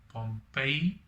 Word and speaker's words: Pompeii: i got the pr the correct pronunciation also by the way pompeii as in after the roman city one of my friends told me about that so i feel kind of like an idiot saying pg in my previous video